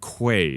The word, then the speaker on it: Quaye: time but this is Mr Caleb it's Caleb Quay is that correct okay just want to make